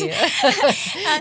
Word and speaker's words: Keflezighi: Yes, It's hard to pronounce. Keflezighi.